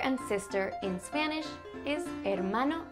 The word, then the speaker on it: hermano: Un hermano? Or a sister? Una hermana? Brother and sister in Spanish is hermano y hermana. It starts with an H, but you don't really pronounce the H.